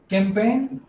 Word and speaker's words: campaign: Some said it is campaign. Some said it is champagne. Different students replied differently. Okay. The real pronunciation is it is champagne.